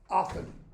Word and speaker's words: often: f f e in often no T sound the T began being